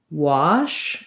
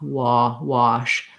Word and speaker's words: wash: So often when I'm teaching water or wash, I'll teach it as an ah, wash, rather than wash.